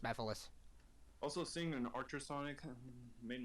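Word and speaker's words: Mephiles: it was yeah it's pronounced bethalis it's it's pronounced methylus also seeing an ultrasonic made my day because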